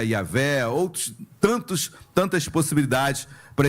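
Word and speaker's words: Yahweh: vogais aí tem yahvé Javé Jeová Jamais porque o nome J eh o a letra J pronúncia dela eh não existe no hebraico Ok então seria yavé Outros tantos tantas possibilidades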